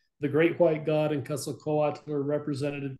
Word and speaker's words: Quetzalcoatl: Yeah, nobody pronounces that one correctly. I had to teach my family and I are about the only ones that pronounce it. It's called Quetzalcoatl. I would always say Quetzalcoatl,